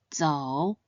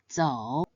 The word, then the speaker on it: 走: It should be pronounced in the third tone, 走, 走.